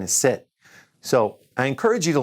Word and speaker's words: sept: And the number 7 is sept.